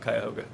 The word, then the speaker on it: Cuyahoga: The locals would call it the Cahoga River, but I'm saying it as it's spelled, Cuyahoga. The very next year, we got Earth Day and we got the Environmental Protection Agency.